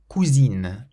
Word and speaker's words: cousine: Cousin, cousin, and cousine, cousine. So the first ends in an N, the second ends in an N followed by another vowel. So the first one has a nasal sound, cousin, meaning cousin, and